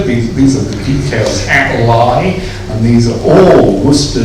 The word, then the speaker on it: Leigh: Spelt Leigh. If you look up the entry in Pearson's Buildings of England, he tells us it's pronounced Leigh, L-Y-E, but Leigh is the spelling.